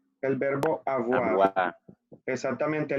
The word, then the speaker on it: avoir: Aboira, Avoir. El verbo avoir. abuá. Exactamente, la O con la I se pronuncia UA. Entonces sería avoir.